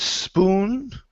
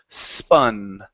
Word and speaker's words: spun: to the word spun instead of spoon with an o sound the U in this word is going to be an uh so the word is Spa spun spun good so this is